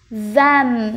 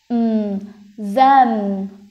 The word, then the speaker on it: them: Them. Đấy, lại gặp tiếp cái âm th, nhưng mà nó là âm hữu thanh này. Mình sẽ đọc là z, a, them.